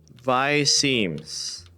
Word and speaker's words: viseme: How do you pronounce visemes in VR chat? Alright, let's do it. I've heard people call it both, so I don't know if there's any proper pronunciation. Rhymes with I-seam.